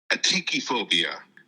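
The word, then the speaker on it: atychiphobia: is definitely a phobia of mine it's called atii phobia and yes I looked up how to pronounce it because I wanted to make sure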